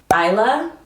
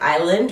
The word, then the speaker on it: Isla: Isla, spelled like island without the ND.